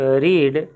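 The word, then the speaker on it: read: यू फिर have you रीड have you रेड पढ़ेंगे इसको क्योंकि हैव के साथ भी थी होता है तो स्पेलिंग तो सेम रहता है उच्चारण रेड हो जाएगा हैव यू रेड सिंपैथी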